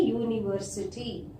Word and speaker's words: university: Here also the same thing, a university, U.